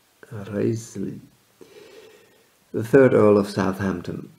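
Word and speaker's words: Wriothesley: father of their son henry rutsley in his day pronounced as reisli the third earl of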